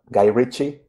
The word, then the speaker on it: Guy Ritchie: Then I'm not Guy Ritchie, Is that the correct sure.